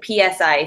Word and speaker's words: Psi: from Russian scientists and is it Psi, like the Psi stuff, or is it, how do you pronounce it? The PSI studies. I mean, I say Psi.